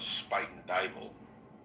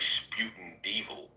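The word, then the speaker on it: Spuyten Duyvil: Like there's a neighborhood in New York in the Bronx called Spite and Dal, but when you look at it phonetically, it looks like Sputin Devil.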